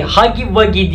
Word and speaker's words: Huggy Wuggy: Şimdi ise hemen hiç vakit kaybetmeden Poppy Playtime'daki Hugi Wugi, Hugi Wugi diye okunuyor aslında da, onu sipariş edelim.